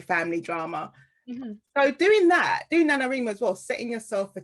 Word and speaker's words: NaNoWriMo: And also I did, I can never pronounce it properly, Nanowrimo or Nanowrimo.